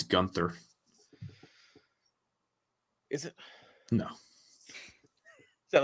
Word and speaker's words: Gunter: I think there's a silent H. I think it's Gunther.